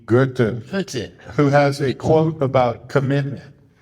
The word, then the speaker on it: Goethe: We call procrastination sloth in 5 syllables. So, but, actually, on a serious note, there's a character, great philosopher, Goethe, Goethe, That's it.